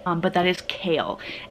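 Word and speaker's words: Cale: I know it is a boy's name, but that is Kale. And Kale spelt with a C, like C-A-L-E, not the vegetable.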